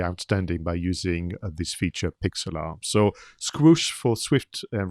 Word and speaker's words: Pixlr: reminded of something called Pixlr. So this is how I pronounce it, but it is spelled Pixlr.